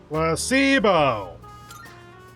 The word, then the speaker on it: placebo: The stress is on the middle syllable. Placebo.